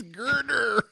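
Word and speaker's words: Gurdurr: But the name, I'm going to spell it out for you, and then I'll say it. Gurrdurr. Girder? Girder. Its name is Girder.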